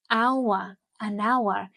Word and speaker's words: hour: We say a hotel because H is pronounced hotel, but an hour, because H is silent.